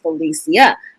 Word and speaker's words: Felicia: call me felicia but my name is felicia that's how you pronounce my name so i felicia you